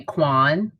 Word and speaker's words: Qwan: of them call me quan my mother calls me yaquan so i do pay better attention but i do respond mostly i respond to quan and things that rhyme with quan like john sean all those good things